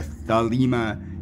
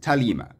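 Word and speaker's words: Thelema: and the h are both pronounced like so thalima is actually pronounced lima lima like uh angela from angela's symposium said she goes it is an ancient greek word and the it is pronounced talima but i will pronounce it like the anglophones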